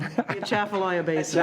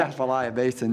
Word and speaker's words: Atchafalaya: Come on, you can pronounce it. Appalachian Basin. Atchafalaya Basin. Atchafalaya Basin.